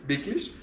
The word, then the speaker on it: wirklich: ¿Wirklich? Wirklich. ¿Cómo se escribe?